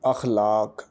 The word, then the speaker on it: اخلاق: الف پر زبر ہے، خے پر آپ جزم کا نشان دیں گے یعنی خے ساکن ہے، لام پر زبر ہے، الف پھر ساکن ہے اور کاف بھی ساکن ہے۔ اس طرح اس لفظ کا تلفظ بن جائے گا اخلاق۔ آئیے اس سے اگلے